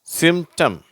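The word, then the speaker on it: symptom: அந்த பீன்ற உச்சரிப்பு வரதில்லை. அட்டெம்ப்ட். சிம்டம்.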